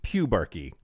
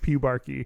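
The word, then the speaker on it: pubarche: It is pronounced pubarchy. Clearly, as everyone knows, this common word. I don't know why everyone was treating it like it was so obvious that it's pronounced pubarchy.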